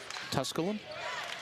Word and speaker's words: Tusculum: Tusculum. I pronounced that correctly?